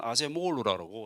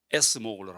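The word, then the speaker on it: Acemoglu: 어, 어떤 사람은 아제 모글루라고, 어떤 사람은 뭐 이렇게 에스 모글루라 하는데, 그냥 미국 사람 제가 많이 접한 사람은 에이스 모글루로 더 많이 하더라고요. 미국식 발음한 게 되겠죠.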